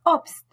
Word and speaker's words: Obst: En toute autre situation, SP et ST se prononcent comme un S français suivi d'un P ou d'un T, comme hospitalier. Die Weste, le gilet. Die Weste, le gilet. Das Obst, les fruits.